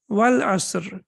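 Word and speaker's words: والعصر: But in the Quran, how do we recite it? We recite it Wal-Asr, right? Wal-Asr. And what happens? They become omitted. We don't pronounce them. Excellent. Yeah, because we are connecting over here, so it becomes Wal-Asr.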